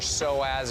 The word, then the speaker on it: psoas: Oh, dude, I got a bad psoas. psoas. You really got to work those psoas muscles Starts out. with a P. Yeah. Really? Yeah. Spell it. Psoas starts with a P-S-O-A-S.